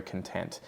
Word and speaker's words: content: And then content, first syllable is the schwa, unstressed, and then the next syllable, tent, is the stressed one.